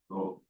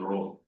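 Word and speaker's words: rho: So row is where heat is elasticity is elasticity and density is row it's called row R this is how it is pronounced big letter row it represents density okay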